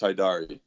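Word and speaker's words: Hajdari: Dari is pronounced Haidari.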